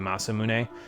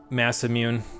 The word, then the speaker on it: Masamune: It is probably like, I have a hard time pronouncing it in the exact Japanese, but it'd probably be Masamune, something like that. But, I don't know, I've always just pronounced it Massamune. I mean, I think H.C. Bailey pronounces it correctly, but I don't know.